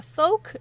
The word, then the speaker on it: Fouke: the most common one folk like poke I was wondering that